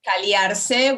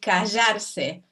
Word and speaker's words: callarse: We don't say caliarse, we say callarse. So we pronounce it as if it were Y, but it's actually a double L.